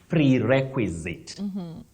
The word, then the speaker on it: prerequisite: They have tried so nicely, but the pronunciation of that word is prerequisite.